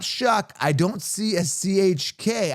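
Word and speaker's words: Tyler Shough: Now, apparently they pronounce it Shuck, but if I was to pron if I Shuck is sh H U C K, I would think.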